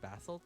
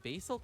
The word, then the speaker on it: basalt: I think it depends where you're from. I think I grew up with the American pronunciation of it. Then I moved to Canada. I think they say basalt though. They say basalt, so I start saying it too.